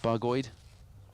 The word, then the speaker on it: Bargoed: nowhere exotic just cloudy bargoed is how you spell how you pronounce that bargoid everyone's just looking at